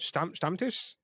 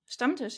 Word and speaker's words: Stammtisch: Stammtisch. Stammtisch.